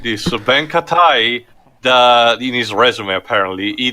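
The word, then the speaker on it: Ben Ketai: Well, how do you pronounce his name? Ben Katai? Ben Katai, yeah.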